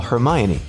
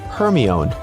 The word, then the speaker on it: Hermione: to call a friend maybe you've said Siri uhhuh call Hermione only for Siri to comply with calling herone okay you may not